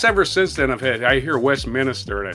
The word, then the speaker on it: Westminster: I said, there's no extra I in there. It's pronounced Westminster. I've heard it on TV, pronounced Westminster. It's not Westminster. Minister is something you keep adding.